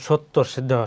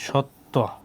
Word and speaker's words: সত্য: হ্যাঁ, এরপর শব্দের মধ্যে বা শেষে জফলা যুক্ত হলে তার উচ্চারণ অনেকটা উকারান্ত হয়, যেমন সত্য, শেষে আছে কি জফলা, এর জন্য হচ্ছে কি সত্য।